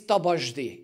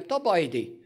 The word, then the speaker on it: Tabajdi: I all the time they say I my name is tabashdi it is not the case I am top idea the German speaking can